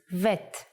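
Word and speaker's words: ב: version is like this if you leave out the dot bet becomes vet the sound of vet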